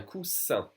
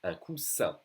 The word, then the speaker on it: coussin: Un coussin. Double S will be pronounced like a solid S. Un coussin, a cushion.